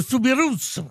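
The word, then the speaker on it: Soubirous: Bernadet sbou avit trouvé on dit Bernadette de souirous c'est un pays où on prononce toutes les lettres ah oui souirousirous non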